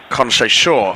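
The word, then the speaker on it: Conceição: Conc Shaw apparently is the correct pronunciation of Portugal's number 26.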